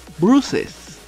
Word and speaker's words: Bruce's: Y ahora sí vamos a pronunciar la E. Y esto se va a pronunciar como Bruce's, que quiere decir de Bruce.